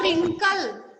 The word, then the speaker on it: wrinkle: Next आपका रिंकल, रिंकल, which letter is silent in this word रिंकल? W. W, very good.